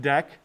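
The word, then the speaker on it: deque: until next time but java deck d-e-q-u-e it's pronounced deck and it's called a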